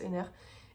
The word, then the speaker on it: Henner: Et cette semaine, je suis allée, comme vous avez pu le voir, au musée Jean-Jacques Henner, je pense que ça se prononce Henner, et je me suis